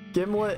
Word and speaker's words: Gimlet: According to the manufacturer, it rhymes with Himlet. Gimlet, Himlet, Okay, I'm out of here, bye.